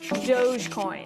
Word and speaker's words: Dogecoin: first let's start with how to pronounce this thing doggy dog coin it's dogecoin the digital currency started as a joke between two software engineers in 2013.